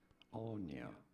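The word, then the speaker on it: Áine: How do you say it? Anya. Anya. Anya. Yeah. Pretty straightforward once you know. Once I looked at a couple other pronunciations of her too, it was Anya.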